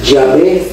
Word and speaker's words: Yahvé: Y entonces algunas personas le llaman Yahvé y otras personas le llaman Yahweh.